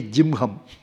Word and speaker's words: Jihma: Here also Jihma we write, but they say Jimham.